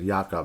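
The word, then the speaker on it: Jakob: to say how these Jake uh actually it's yakob that's how you say it right yakob DC oh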